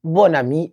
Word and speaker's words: bon ami: La liaison crée un son identique au féminin.